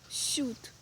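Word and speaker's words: süt: саме головне далі ягода ягода вона читається як дюд А молоко щут щут головне це напутать тому що я по началу тоже казала на молоко дзюд а на ягоду суд це хрестик Ми не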